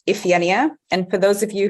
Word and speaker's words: Iphigenia: So it's pronounced Iphigenia.